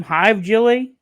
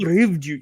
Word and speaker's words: Hivju: Hive Jelly? That's how I should call it. Hive Jelly? No, it's like HIV. He's our you- guy from Game of Thrones. Christopher Hivju.